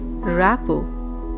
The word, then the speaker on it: rapport: Rapport. T is silent in this word.